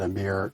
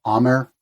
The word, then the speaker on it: Amer: I might have said Amir. You're saying Amer? Amer, yeah.